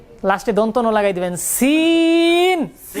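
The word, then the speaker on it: سين: সি সি সি সি সি লাস্টে দন্তন লাগায় দিবেন সিন সিন টান কম হবে না বেশি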